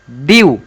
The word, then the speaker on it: dew: Example समझो DEW ड्यू, ड्यू, ड्यू, ड्यू।